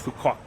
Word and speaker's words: Phu Quoc: It's Phu Quoc. Phu Quoc. You almost don't say the k at the end.